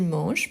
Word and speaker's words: manges: aura que je mange que tu manges pas fait n'oublie pas le S même si on ne le prononce pas qu quel manange kou